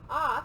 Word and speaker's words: of: It sounds like you're saying UV of, but we actually spell it OF.